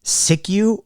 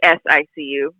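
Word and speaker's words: SICU: pronouncing it are you is it siku or Si ICU I would say s ICU just because we had the we had the T before the burn came along so we said s ICU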